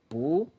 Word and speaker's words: 不: But if the coming syllable is from the fourth tone, like 去, in this case, 不 becomes 不, second tone. It's just a very light exception. It's not complicated. So you say 不去.